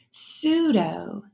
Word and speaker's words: pseudo: rhinoceros he s together the P is silent now and you only hear the s pseudo like pseudo words those